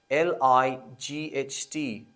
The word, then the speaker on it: light: silent we say hi or we say light l i g h t we say light the